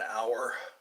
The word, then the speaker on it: hour: The attention span for people usually doesn't exceed an hour. Hour is spelled H-O-U-R. Hour. But you don't say the H.